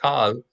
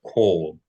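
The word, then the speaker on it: כל: Anytime you say all in Hebrew, you're going to pronounce it in the historical way. So not kal, but kol.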